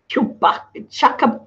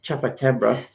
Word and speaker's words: chupacabra: It says chukabab. I can't even pronounce it, Danny. Chupacabra.